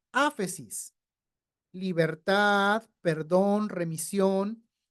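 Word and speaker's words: ἄφεσις: Se pronuncia áfesis, libertad, perdón, remisión.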